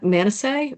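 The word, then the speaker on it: Manasseh: One was Ahaz, the other was um I can never pronounce his name right, man. Manise man m a n a ss e h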